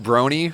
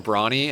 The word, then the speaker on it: Brony: I mispronounced Brony forever. I kept calling him Brawny, and everyone's like, dude, Brony's been coming here like a month.